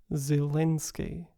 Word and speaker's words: Zelenskyy: the Ukrainian pronunciation is zielinski one thing to note is that the first e in zelensky is not reduced to a central uh but is a front vowel for speakers of British